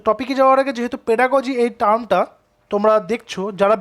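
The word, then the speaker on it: pedagogy: অনেকে পেডাগগি বলে, পেডাগগি কিন্তু নয়, অ্যাকচুয়ালি এটার প্রোনাউন্সিয়েশন হচ্ছে পেডাগজি।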